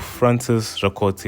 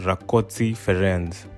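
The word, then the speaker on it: Rákóczi Ferenc: building in kosovo which is the statue of francis ricotsi ii and in hungarian it's pronounced rakotsi ferenz he lived from the 27th of march 1676 to the 8th of april 1735.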